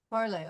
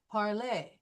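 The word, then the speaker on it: parlé: So we will take the R off and we will add an accentu to this e and so that will make it sound like parlay.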